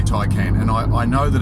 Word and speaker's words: Taycan: No - I can how do you say it it's Porsche ty can you know what if you want to say Porsche take in then go for it because there's no set heart and fast rules but apparently we have to say ty came and I know that